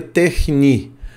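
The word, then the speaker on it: τέχνη: A pronúncia disso seria techni, né, com CH assim puxado, que é essa letra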